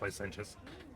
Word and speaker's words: licentious: I pronounced that word wrong the first time. I know I did. I know it's licentious.